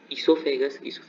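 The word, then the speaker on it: oesophagus: The main organ of digestive system are mouth, इसोफेगस हमारी basically food pipe होती है, इसमें ओ साइलेंट है, stomach, small intestine, large intestine and anus.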